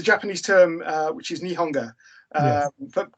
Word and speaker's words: nihonga: term uh which is nihonga uh but do you please con correct my um pronunciation uh uh no you pronounced it perfectly nihonga is japanese style paintings